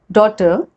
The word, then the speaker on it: daughter: So the first rule is GH is not pronounced when it comes after a vowel. Like in these examples, thought, drought, thorough, through, burrow, daughter, then sight, might, right, light, or words like high, sigh, way, or wait. As you have noticed, we haven't pronounced GH in these examples.